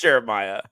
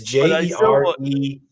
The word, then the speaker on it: Jeremih: You pronounce it. The guy that's saying birthday sex. Oh, I think it's Jeremiah, isn't it? No, it's Jeremih.